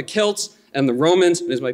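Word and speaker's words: Celts: speaking of the European selts as some people confusedly do but instead here I'm pronouncing that hard K the way I think that it absolutely should be talking about the Kelts and the Romans is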